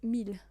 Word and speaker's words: mille: It's spelled mille, but it's pronounced mille.